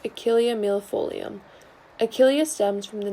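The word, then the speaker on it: Achillea millefolium: yarrow the scientific name of this plant is pronounced achillea mill folium achillea stems from the name of achilles an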